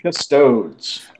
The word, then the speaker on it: Custodes: Let's go ahead and talk about some Adeptus Custodes. Woohoo, man! Or I saw somebody get corrected on another channel because they didn't pronounce it Britishly enough.